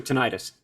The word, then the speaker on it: tinnitus: i saying it right is it tinnitus or tinnitus you can say it either or either way so i'm going to go in with that in the us we say tinnitus i mean when you